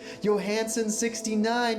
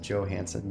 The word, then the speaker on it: Johansson: Oh, right, and you also pronounce it Johansson. You don't do the German pronunciation.